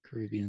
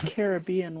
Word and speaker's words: Caribbean: You go Caribbean when you talk about the place, but it's Caribbean when you're talking via about pirates. Yeah. Yes. Thoughts? Yeah. I agree. Parts of the Caribbean.